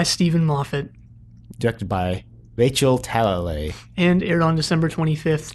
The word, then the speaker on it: Talalay: Well, I finally found out how to pronounce Rachel's last name. Okay. It's Talalay.